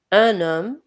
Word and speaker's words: homme: Um, সো এখানে আমরা h টা উচ্চারণ করব না। un homme এর মানে হচ্ছে একজন পুরুষ।